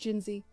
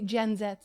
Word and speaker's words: Jinzee: My name is pronounced Jinzi. But I say Gen Z because I'm Canadian now.